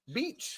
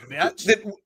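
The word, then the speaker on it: Bech: Beach. Betch. It's B-E-C-H. There's no A, so Betch. That sounds too close to bitch. If there's no A, then why would you think that it's beach? Betch.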